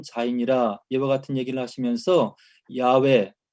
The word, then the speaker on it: 야훼: 그래서 이제 모세가 당신의 이름을 나에게 알려주시옵소서 얘기를 했을 때 나는 스스로 있는 자이니라 이와 같은 얘기를 하시면서 야훼 혹은 여호와, 야훼가 더 정확한 발음인데요.